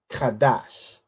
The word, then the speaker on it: Qadash: So, if you look at the Hebrew, we have ka right here. Then we have have a da and a sha joined together to make dash. So this is how we get kadash.